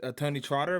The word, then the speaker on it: TonyxTrotter: I'm here with TonyxTrotter. Am I saying that correctly? Yep. No X. You don't pronounce the X, so yes, Yeah, sir.